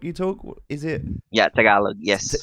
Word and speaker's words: Tagalog: is it taglitoc you talk is it yeah tagalog yes how do you pronounce that tagalog tagalog yes tagalog tagalog yeah